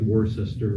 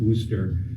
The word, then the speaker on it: Worcester: how you pronounce it w-o-r-c-e-s-t-e-r looks like War sister Worchester but I think they pronounce it ooster and there's still a